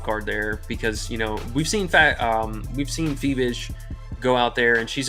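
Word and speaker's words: Fiebich: I just typed in Google how to pronounce her name, and it said Phoebish. You were right. Fee bitch.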